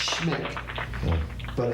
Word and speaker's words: Smick: Well, it's pronounced Schmick, but it's spelled Smick. S-M-I-C-K.